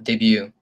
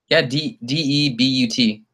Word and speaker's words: debut: cuz I don't think I thought you pronounce it de bu T you always heard Debbie oh no we really are talking about the same thing we're talking about de bu T is that debut also do I believe